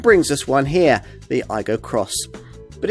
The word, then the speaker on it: Aygo X: us this car the iGo cross it's pronounced I go Cross by the way like the Yaris cross Toyota's smallest SUV the